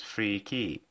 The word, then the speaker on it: 3K3Y: And here comes 3K3Y Company, obviously pronounced as Free Key, which released an optical drive emulator.